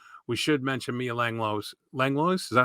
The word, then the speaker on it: Langlois: Langlois, is that how you say it? Langlois, yeah.